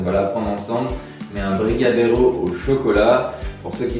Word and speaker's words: brigadeiro: Qu'est-ce que tu en penses de ma prononciation, Carolina? Brigadeiro. Ok, Brigadeiro.